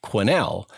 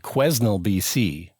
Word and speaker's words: Quesnel: no it's spelled quesnel there's an s in there it's it's a weird spelling but it's pronounced quinnell but here i am